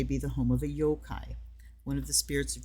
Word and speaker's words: yokai: Okay, those who are not familiar with the yo-kai tend, and I say yokai because it's like a two syllable thing.